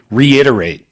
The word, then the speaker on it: reiterate: The word I'd like to share today, reiterate. Reiterate. Reiterate. So 4 syllables there.